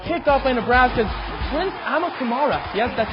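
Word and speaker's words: Amukamara: Landry Jones filling in for the injured Sam Bradford is picked off by Nebraska's Prince Amakamara.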